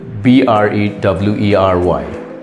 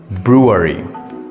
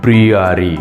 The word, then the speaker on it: brewery: dorate dorate not dorate it's dorate number eight b r e w e r y how would you pronounce this word it's Brewery Brewery not breary it's Brewery number nine c a m